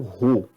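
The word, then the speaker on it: ρ: Essa segunda simbologia é uma letra grega, uma letra do alfabeto grego que se pronuncia como Rho.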